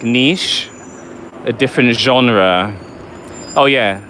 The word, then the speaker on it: niche: Oh yeah, and make sure you say niche, niche, niche, because it's a French word. Because people, they always say niche, and it really just like boils my blood, because that's not how you say it.